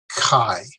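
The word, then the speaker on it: καί: 2 syllables, 2 vowels, kai.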